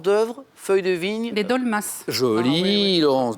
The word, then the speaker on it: dolmas: Les dolmas. Joli, Ah, oui. Laurence, dolmas, effectivement, et le S se prononce, tout à fait.